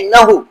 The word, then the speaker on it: نحو: نحو، اس کا صحیح تلفظ ہے نحو.